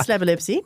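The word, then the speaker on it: Slabolepszy: It is Slabelewski. It's don't put a K in there. There's no K.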